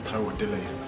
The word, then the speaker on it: Taiwo Odeleye: Let me say it properly. My name is Taiwo Odeleye.